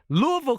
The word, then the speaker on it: Louisville: Well, I was in Louisville, Kentucky.